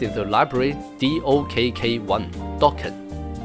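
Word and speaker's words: Dokk1: Dawkan locally pronounced Dawan.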